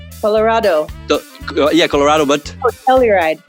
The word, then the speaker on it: Telluride: called niceness from uh how how is it pronounced colorado yeah colorado but telluride telluride all right i didn't know that hi welcome